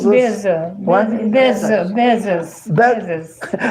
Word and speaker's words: Bezos: Bo, I can't pronounce his name. Bozo. Bozos. Bozo. Bzo. Bezos.